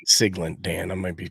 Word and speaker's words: Siglent: So, and I'm saying Siglent, Dan. I might be pronouncing that wrong. Siglent. Yep, Siglent.